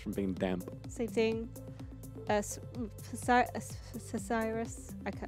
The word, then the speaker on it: psoriasis: Cesiris. It's not. You don't pronounce the P.